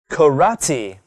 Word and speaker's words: karate: Karate. It's spelled K-A-R-A-T-E.